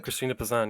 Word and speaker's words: Christine de Pizan: so you have one medieval feminist you deserve Christine deep Assam is that how you say it Christine de Pizan yes what what who was she and what